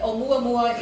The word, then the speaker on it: Oumuamua: How do you pronounce that? Is that a Hawaiian god? It is Oumuamua is a Hawaiian name.